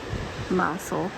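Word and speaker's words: Mousehole: there's nulan and then mousel which apparently is how you say it mous hole but it's spelled mouse hole I don't know at least that's how the local say it often and unfortunate turn EV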